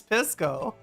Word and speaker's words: Pisco: His name is Pisco. That's how it's, that's how the alcohol is pronounced, and his name is a reference to the alcohol.